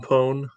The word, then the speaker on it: Poe: Please don't ever mispronounce his name ever again. Edgar Allan Poe.